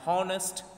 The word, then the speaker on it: honest: article let's say an honest man an epic journey see which word is coming here first o is coming out of honest h is silent here that's why we have